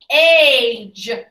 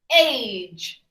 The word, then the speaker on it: age: Soft G says J, J. Now we know if it's squished between the A and the E, it's going to say J, J. Are you ready? Age, age, age, page, age, cage.